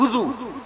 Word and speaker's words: وضو: وضو نہیں کہیے گا، وضو نہیں، وضو صحیح تلفظ کے وضو، واو کے پیش.